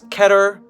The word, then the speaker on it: Keter: It does not rhyme with meter, so keep that in mind.